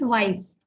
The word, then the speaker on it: weiß: Here in weiß, we are having a ligature at the end. This is the ligature, which looks like the beta sign in mathematics, and it has the sound of double S. Okay, so it becomes weiß.